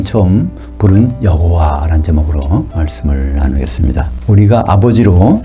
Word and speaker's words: 여호와: 하나님의 이름은 여호와라고 나옵니다 또 그 발음을 야외라고 하는 분도 있어요 여호와 또는 야회 더 정확하게는 예호바 할 수 있습니다 그것이 발음에 약간 차이는 있지만 하여튼 우리 성경에 여호와라고